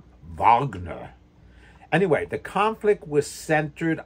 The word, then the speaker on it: Wagner: in German it's worms W's are are V's as in Vagner the great Jewish class classical uh com composer it's not Wagner like my best man David Wagner but Vagner anyway the conflict was